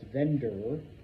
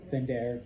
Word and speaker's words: vender: If you mispronounce it as vendor, what does a vendor do? A vendor sells. So, vender, to sell.